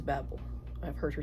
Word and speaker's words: Babel: I have here Babel that is how you say it at least in the US the author is American okay it is Babble I've heard her say